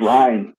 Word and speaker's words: Rhine: time i say it my texas accent really gets in the way just ryan ryan i know when i but the eye is so long in texas language that